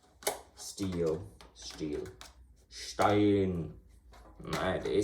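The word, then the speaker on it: Stihl: I pronounce it Steel.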